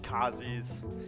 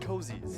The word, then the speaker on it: Kazi's: Unfortunately, it is pronounced Kazi's. I don't know. I wanted to be cozy at Cozy's. Yeah, I want to be cozy at Cozy's, but it's Kazi's. Thank you, Nikki, for the information.